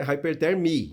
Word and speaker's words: Hypertherm: Então, o M no final é mudo. Então é Hypertherm, né?